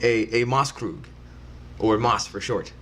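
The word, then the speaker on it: Maßkrug: Oktoberfest drinking that is actually called a a mas Krug or a Moss for short okay and what's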